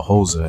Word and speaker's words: Xhosa: To begin, the proper way to say Xhosa is with a clicking sound that I'm clearly not good at. So please forgive me for simply calling this African ethnic group the Xhosa instead of its proper pronunciation.